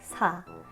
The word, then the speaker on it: 사: The last number 4 means the verb love, 사랑하다 in Korean, because 4 in Korean is pronounced 사.